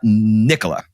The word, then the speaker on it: Nicola: So in 94, your now wife, and I think you say her name, Nicola. Is that right? Nicola, yeah. Nicola. Okay. Tomato, right? We're on two different sides of the ocean here. I was going to say Nicola.